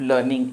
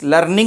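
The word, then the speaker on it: learning: यू आर इन द midst ऑफ लर्निंग English. लर्निंग नहीं, लर्निंग। देखो क्या है, आर के बाद यदि कोई कॉन्सोनेंट साउंड आता है तो हम आर को प्रोनाउंस नहीं करते हैं। तो लर्निंग नहीं, लर्निंग। यू आर इन द midst ऑफ लर्निंग English.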